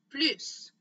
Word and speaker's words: plus: devant le mot plus, dans ce cas-là, oui, on va prononcer la lettre S. On dit plus.